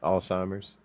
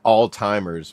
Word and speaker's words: Alzheimer's: Alzheimer's.